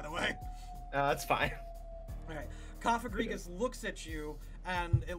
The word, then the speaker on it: Cofagrigus: This Cofagrigus, that is how you pronounce that, right? Yes. Okay, because I'm super bad at Pokemon pronunciation, by the way. That's fine. Okay. Cofagrigus looks at you, and it looks at this